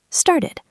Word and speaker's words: started: Started. See? 2 syllables.